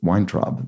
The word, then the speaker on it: Weintraub: Actually, wine snob, it rhymes with Weintraub, the name of today's constructor.